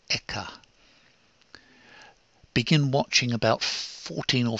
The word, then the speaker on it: ECHA: the European chemicals agency European chemical agencies pronounced eka begin watching about fourteen